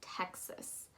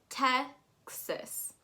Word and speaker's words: Texas: as an e and you want to make sure that that a is pronounced as an i so texas texas make